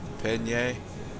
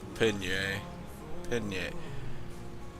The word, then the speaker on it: Pallegney: I think the proper way to pronounce it's almost like the pasta, Pallegney. It's close to that, even though it's not even close to how you spell it.